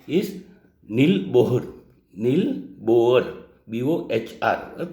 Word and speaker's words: Bohr: The third, the scientist name is Niels Bohr. Niels Bohr. B-O-H-R.